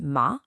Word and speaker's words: ma: But for the feminine ma and ta, your mouth opens wide and flat, ma, ta.